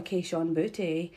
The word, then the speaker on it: Kayshon Boutte: But also, my boy Kayshon Boutte. And if you ain't saying his name like that, you're saying it wrong.